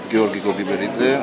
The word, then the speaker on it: Giorgi Gogiberidze: Batumi International Art House Film Festival, dal nome impronunciabile. Can you tell your name, because for me it's impossible? My name is Gheorghe Kodiberidze, I am from Batumi, from Batumi Film Festival.